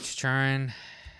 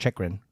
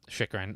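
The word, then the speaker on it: Chychrun: Jacob Churn. I got Alexander. That's pronounced Chikrin. Chikrin.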